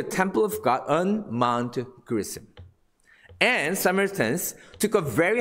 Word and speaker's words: Gerizim: Is it correct pronunciation? It's Gerizim.